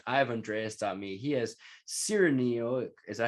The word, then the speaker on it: Siriniok: He has Siriniok. Is that how you say it? How you say your last name? Yeah, Siriniok. Yeah. I did pretty good. All right. So yeah. If you spell it, it's like Siri and then NIOK.me.